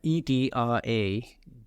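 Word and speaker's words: Edradour: is which is lovely but how do you spell it's Edward what's the edra e d r a d o u r edra okay one word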